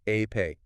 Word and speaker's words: Epe: Lekki-Epa, pronounced Epe.